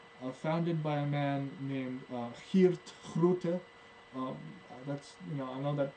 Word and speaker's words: Geert Groote: able to find him, it's because in Dutch, G's are pronounced like thick H's.